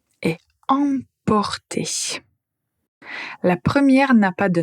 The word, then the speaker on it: emporter: Alors la paire suivante c'est apporter et emporter.